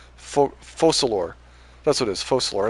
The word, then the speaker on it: Focalors: That's what it is, Focalor. It's not like a C, it's like an S, right?